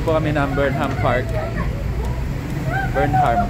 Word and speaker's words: Burnham: kami ng beram Park beram beram beram Burnham silent h Bakit ako nandito dito